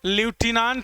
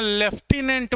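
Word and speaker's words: lieutenant: colonel भी important है बोलचाल की भाषा में हम लोग लुटना नहीं बोलते हैं लेफ्टिनेंट बोल देते हैं तो हमें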